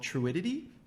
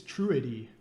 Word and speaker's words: Truity: I think it's Truity. Oh. I thought it was Truidity. See, already having disagreements right there. No, there's no disagreement. Like it's spelled with there's only 2 T's.